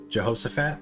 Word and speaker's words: Jehoshaphat: James Jehoshaphat. Why did I say it like that? You say it. Jehoshaphat?